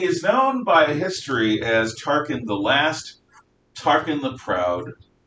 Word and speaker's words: Tarquin: spelled with a k this is tarkin as in t-a-r-q-u or q-u-i-n or q-i-n and he is known by history as tarkin the last tarpon the